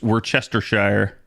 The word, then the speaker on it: Worcestershire: Worcestershire? No, because there's no T. It's just Worcestershire. Don't ask me why.